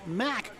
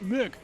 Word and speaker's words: Mack: Academy 3 has two strikes and one coming now from the fisherman Sean Mack. Donald, not Mick, it's Mac.